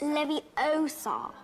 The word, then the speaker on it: Leviosa: It's Leviosa, not Levi.